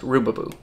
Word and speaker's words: rubaboo: know if I'm, because I could not find out how to say this. I found like four different spellings of this word, and they're all different, but all of them made me come to the conclusion that it is pronounced rubaboo.